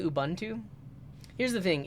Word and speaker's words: Ubuntu: Ubuntu here's the thing if you speak English and you pronounce this as an English speech speaker uh the U is a short u sound because it's followed by two consonants if it was followed by consonant and then vowel like if there was